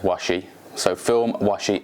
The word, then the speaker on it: Washi: been kind enough to tell me that it's pronounced washi so film washi s um and with a